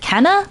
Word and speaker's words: Kena: It's your bird haven the raven and welcome to my first playthrough of I think it's pronounced Kenna Bridge of Spirits.